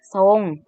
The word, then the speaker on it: ทรง: เสริม อ่าน ว่า เสริม พยัญชนะ ต้น ตัว ท. ทหาร เมื่อ ควบ กะ ตัว เรือ เวลา อ่าน จะ อ่าน ออก เสียง ตัว สอน solo นะ คะ เช่น ทรง อ่าน ว่า ทรง มา ดู ตัว อย่าง